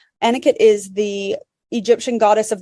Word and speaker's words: Anuket: should mention anit well it's spelled a n u ke T anakot is the Egyptian goddess